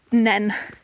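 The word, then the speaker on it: Nene: beating their peterb Rivals winning the rights for the river to be pronounced nen there we go there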